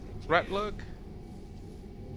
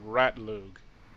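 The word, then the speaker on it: Ratlug: we can actually find ratl I believe that is him Rat L been saying it wrong the entire time rat lug all all right so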